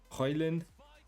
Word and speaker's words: Højlund: Højlund.